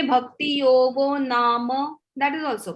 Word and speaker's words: Bhakti Yog: The point was, if you say Bhakti Yog, it's correct. If you say Bhakti Yogo, that is also correct. If you say Bhakti Yogo Nama, that is also correct.